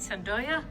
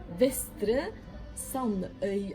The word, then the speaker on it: Vestre Sandøya: How do you say it? Sandoya? Vestre Sandøya. Oh, you're saying it Vestre, right.